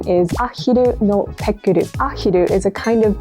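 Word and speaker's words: ペックル: In Japanese, Pekkle is pronounced pekkuru, and it doesn't actually have a specific meaning.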